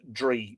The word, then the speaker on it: Drui: The old form of the Irish name for a druid is Drui, D-R-U-I. Modern D-R-A-I or D-R-A-O-I, all pronounced Dree, D-R-E-E, Dree. But in the oblique cases,